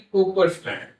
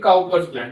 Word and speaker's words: Cowper's gland: the prostate gland and the Cooper's gland or the Cowper's gland, whatever you want to pronounce it as.